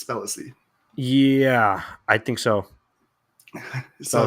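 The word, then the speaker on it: Spellacy: I've been pronouncing it Spelacy, but I believe it's Spelacy.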